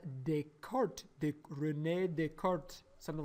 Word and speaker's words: Descartes: this renee they could i don't really know how to speak french but i asked our french teacher that's what she said how you pronounce it descartes this rule is actually